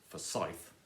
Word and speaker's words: Forsyth: the first line with my name which is Forsyth with stress on the second syllable sublight then you are